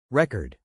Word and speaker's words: record: Our next word is record. As a noun, the stress is on the first syllable. Re cord.